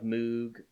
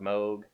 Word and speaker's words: Moog: kind of thing going a lot of Moog or Moog or however you prefer to pronounce that word the inventor says that there are three legitimate choices so don't beat me